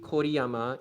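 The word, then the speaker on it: Kōriyama: So yes, it's called co o yama. Basically for anyone that doesn't know in Japanese um o u o o and y u like basically something hu and then a u as well. they become U with a dash, O with a dash,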